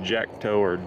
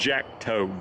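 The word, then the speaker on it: Jacto: get the name wrong is it Jack toward sorry I pronounced it wrong sometimes it's Jack toe j-a-c-t-o and this is the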